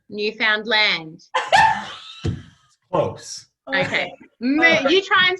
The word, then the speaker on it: Newfoundland: say it Linda listen say the word understand understand now say Newfoundland Newfoundland oh okay you try